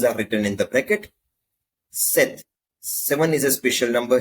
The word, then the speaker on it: sept: written in the bracket Seth seven is a special number here sept is the spelling s e PT but how you pronounce is set set with no and these you can